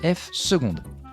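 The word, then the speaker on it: f″: de F prime et on le note f avec deux apostrophes ça se prononce F seconde comment calculer la dérivée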